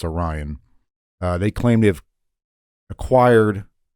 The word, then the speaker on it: Arrian: So the Roman historians like Plutarch and Arrian, I'm pretty sure that's how you pronounce his name. Arrian. I don't want to say Arian because I'm pretty sure that's not right.